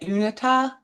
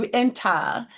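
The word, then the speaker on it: Uinta: And I always say it wrong, but they're asking, they say they see the Is it Unita? UA, how do you say it? UA, thank you. Uenta Mountains.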